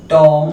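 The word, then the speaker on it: tomb: पर लिखा हो MB अगर कहीं पर लिखा हो MB काफी सारे शब्द है जहां पर MB लिखा होता है वहां पर जो भी होता है वह क्या होता है साइलेंट होता है उसका साउंड नहीं किया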